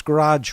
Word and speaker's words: garage: in my garage you you pronounce garage with one syllable and i said that is the correct way we do it in kansas and i was talking